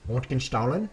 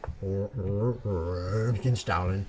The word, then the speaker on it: Röntgenstrahlen: But we did learn X-ray in German is pronounced Röntgenstrahlen. Röntgenstrahlen.